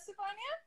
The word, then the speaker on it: Stefania: And second of all, why do you know that, Stefania?